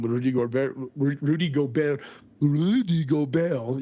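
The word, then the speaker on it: Gobert: Rudy go Rudy go go Bell you got to say it like you got a something on your tongue like a Frenchman when he was out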